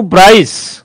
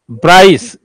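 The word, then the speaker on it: Bryce: जिसमें सभी का हिस्सा होता है according to ब्राइस ब्राइस बी आर आई एस ई कर लो यह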